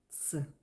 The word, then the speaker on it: Ц: If you will turn upside the letter P, so write like this, and add a tail, you get the letter ts, which is pronounced ts, like in pizza.